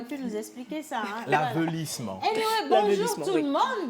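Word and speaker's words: aveuglissement: L'avelissement. L'avelissement. Pas Avelissement. l'avilissement. L'avelissement. Ça s'écrit Oui.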